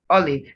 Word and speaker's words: olive: So you have the O sound, olive. The same O sound you have in orange is the same O sound you have in olive. So it's not olive, it's olive.